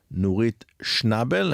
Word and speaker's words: Nurit Shnabel: today in our studio uh the lovely Professor nit Schnabel am I pronouncing your name correctly yes Welcome to our